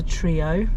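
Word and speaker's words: Treo: Um but yeah, it's exciting to go home on a Friday anyway, let alone be like pizza trio. That's new. Trio spelled T R E O.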